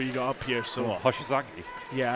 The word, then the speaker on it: Hoshizaki: So Hoshizaki? Yeah, I think I said Hosazaki, so I was Close enough. yeah, it was. I used a hard O instead of a soft O.